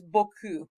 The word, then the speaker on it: beaucoup: That word is beaucoup. Look how many silent letters there are in that one word.